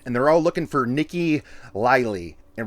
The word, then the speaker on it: Nique: Because it's spelled like peak, like Nique.